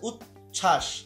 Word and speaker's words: উচ্ছ্বাস: আচ্ছা, তারপর হচ্ছে উচ্ছ্বাস, এখানেও কিন্তু ওই যে এখানে কি হচ্ছে না, এখানে কিন্তু বফলার উচ্চারণ হচ্ছে না।